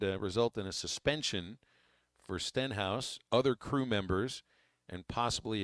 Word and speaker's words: Stenhouse: called in earlier and called him steinhouse but there's no I in his name Stenhouse is how it's spelled and uh